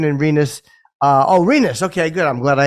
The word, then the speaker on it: Rinus: Is it Rinus VK or is it Rinus VK? Jake, if you could tell me, Rinus would be the first option, and Rinus. Rinus. Okay, good. I'm glad I asked. Rinus VK.